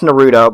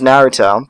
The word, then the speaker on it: Naruto: Okay, it's not pronounced Naruto, by the way. If you pronounce it like that, you're wrong. You should just honor kill yourself. I don't see any other way around it. It's Naruto.